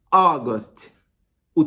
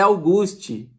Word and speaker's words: August: Agosto, August. O T mudo no final. A tua cabeça tem que pensar que esse T é mudo, cara. Então não é August. E também não é Auguste.